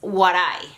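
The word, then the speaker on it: 笑: The symbol for laughter is this symbol that you're seeing right here on the screen, and it is pronounced warai.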